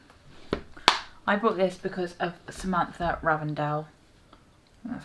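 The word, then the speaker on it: Samantha Ravndahl: I bought this because of Samantha Ravendell. That's how you pronounce her name.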